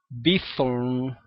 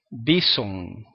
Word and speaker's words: Bithorn: Pues miren, ningún puertorriqueño bueno, casi ningún puertorriqueño lo pronuncia bien. En vez de decir Irán Bithorn, la mayoría de los puertorriqueños dicen Irán Bison. Algunos puertorriqueños dicen Irán Beaton, Irán Beaton.